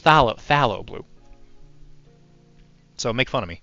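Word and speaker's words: Phthalo Blue: this all the time because I keep saying paalo blue because I'm a it's pronounced Thal phalo blue so make fun of me it's also very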